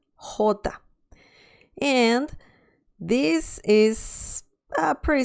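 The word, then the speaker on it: jota: next one that's the name of the letter hota and this is a pretty straightforward pronunciation the sound is pretty much so the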